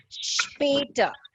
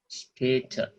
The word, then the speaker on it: später: Später. Später. Später. Sehr gut. Wait. Später. It's not später, it's später. Später.